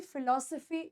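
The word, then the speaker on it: philosophy: क्या है हमारी जिंदगी फिल पीएच वाला आ रहा है फ फ फिलॉसफी एक होता है एफ वाला डरेक्ट य फिलोसोफी आपके हो और लिप्स टच कर रहे हैं फिलो सफी अब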